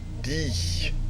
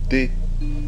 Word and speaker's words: D: "Dee" or "Dé"? Let's say "Dé" .